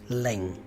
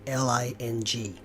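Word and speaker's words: 零: the word for zero it's Leng spelled Li ng please mimic my intonation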